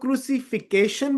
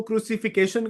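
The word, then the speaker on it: crucifixion: I like it more like an American accent में British accent में इसको क्रुसिफिकेशन कहा गया है। अमेरिकन एक्सेंट में इसे क्रुसिफिक्शन कहा जाता है। प्रोनाउंस किया जाता है।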